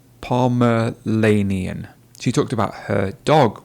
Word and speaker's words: Pomeranian: You'll see the word on the screen now, and that sound in the middle is not Lanian. Can you see my tongue? Lanian. It's actually Ranian. So it's Pomeranian, not Pomeranian.